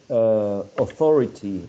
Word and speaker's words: authority: The stress shifts to the second syllable in the word.